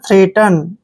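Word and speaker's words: threat: र ठीक है और ई ए को ए की मात्रा पढ़ते हैं टी को हम ट पढ़ेंगे ई एन का उच्चारण न करेंगे ठीक है ना थ्रेट ठीक है ना थ्रेट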